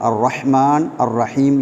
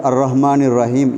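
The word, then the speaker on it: الرحمن الرحيم: ஏற்படக்கூடிய பெரும்பாலும் தவறாக நடக்கிறது அர்ரஹ்மான் அர்ரஹீம் என்ற வார்த்தைகளிலே சிலர் வந்து அர்ரஹ்மானிர் ரஹீம் என்று அந்த ஹாவை உச்சரிக்காமல் சொல்வார்கள் எனவே அதை நாங்கள் திருத்திக் கொள்ள வேண்டும் அர்ரஹ்மான் அர்ரஹீம் அர்ரஹ்மானிர் ரஹீம் என்று ஹாவை நாங்கள் சரியாக உச்சரிக்க வேண்டும் இல்லாவிட்டால் சில வேளை அர்த்தம்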